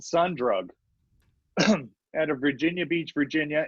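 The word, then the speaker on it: Sundrug: spell it like that there's a bunch of other bands that are pronounced son drug but they're not su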